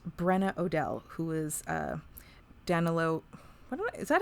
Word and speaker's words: Danilo: now we meet brenna odell who is uh danilo is that how he pronounced his name i've already forgotten i think it was daniello danello yes so we meet brenna who's his daughter